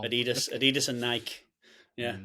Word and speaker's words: Adidas: uh Adolf dassler and his name was shortened to Addie for Adolf and dasler to das so Adidas it's almost like we've had this conversation so all of America is wrong but it's okay there's only 10.